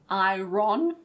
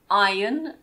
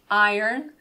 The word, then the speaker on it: iron: Be careful of the pronunciation. It's not iron, remember? It's iron in British English and iron in American English.